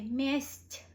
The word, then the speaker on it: месть: But since we added мягкий знак, it's gonna say месть, very soft, месть.